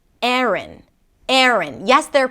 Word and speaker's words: Erin: The first syllable is 'eh', 'eh', and even something closer to an 'uh' sound. And then the second part is 'rn', 'rn' - an R sound, a schwa, and an N - 'rn'.